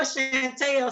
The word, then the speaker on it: Chanelle: I said Chanelle. People always put the T in my name for whatever reason. Maybe I know Chanelle, so it's fine. So all right. Well, thank you. I know Chanelle, so it was just